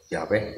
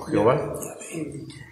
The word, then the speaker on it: Yahvé: Así es que bueno, por eso es que se sabe que la pronunciación correcta del nombre de Dios es Yahvé y no Jehová.